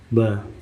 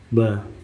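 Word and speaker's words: باء: The Arabic letter ba b makes the b sound just like the b in book, ball, baby.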